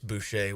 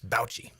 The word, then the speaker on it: Boucher: Alex Boucher was Alex Bouchy.